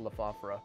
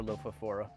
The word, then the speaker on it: Lophophora: a lot more like a lophophora or lophophora. I vacillate back and forth between the two pronunciations, baby.